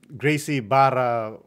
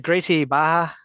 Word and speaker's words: Gracie Barra: go try there's a Gracie Barra how do you say it it's like Gracie Baja yeah something like that they have it here